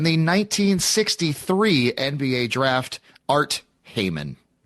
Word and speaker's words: Heyman: This is the number 1 overall pick in the 1963 NBA draft, Art Heyman. Sure you're pronouncing that correctly? Art, yes. Hey, man. Yeah, hey, man.